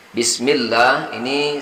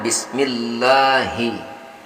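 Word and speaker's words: بسم الله: Jadi membacanya Bismillahi, bukan Bismillahi. Saya ulangi, bukan Bismillahi tapi Bismillahi.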